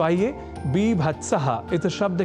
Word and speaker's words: बीभत्स: रसा भावा पुन स्त्र अर्थात बीभत्स रस न की बीभत्स यह अवश्य ध्यान रखिएगा जहां जुगुप्सा या